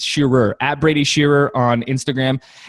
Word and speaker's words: Shearer: It always sounds like Shearer, but it's Shearer, at Brady Shearer on Instagram.